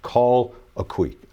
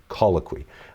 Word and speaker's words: colloquy: Uh, and so, it that's really what it's based on and it's it's pronounced call a que, colloquy, uh, as as we talk about it in LCC.